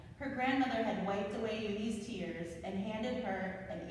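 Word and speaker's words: Unhei: "Uni," said a kid as they chanted. No, Yooni, corrected. It's spelled U-N-H-E-I. It's pronounced Yooni.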